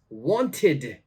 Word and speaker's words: wanted: or ID all right this word is wanted wanted so it's the id id sound and the last word